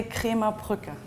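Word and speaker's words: Krämerbrücke: So we're going to take a tour of the hotel, which is pronounced Hotel Kramerbrücke, which means the Merchants Bridge.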